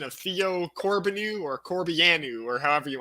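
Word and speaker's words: Corbeanu: warrants but i think i fell on corbiano like it's uh it's romanian i believe but i was asking i was talking to my friend about uh about the pronunciation of it and he was saying that there's nothing that can make the uh the biannual sound that he knows of so he says it's corbinu so corbin okay my mind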